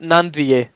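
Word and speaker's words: Gnanduillet: How do you pronounce Nandvier? It's Armand Nandvier.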